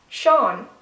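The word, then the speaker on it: Seán: me know if you guys guess that one Shan Shan is a very very common Irish name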